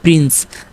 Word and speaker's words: prince: যেমন এখানে দেখেন PRINCE উচ্চারণ কী হবে প্রিন্স, যার পিতে প, আরতে র, তারপর আইতে রস্যই, এনতে দন্ত ন, সিতে দন্ত স, ইতে ইটা কি নীরব বা সাইলেন্ট, ও ইটা এখানে উজ্জ্ব আছে।